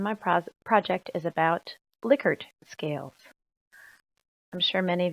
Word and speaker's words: Likert: Sarah Burnham and my pro project is about liquor scales I'm sure many of you thought it was pronounced lyer scales and sometimes I slip up and say lyer but it is pronounced liard here's a little history about rensis licker um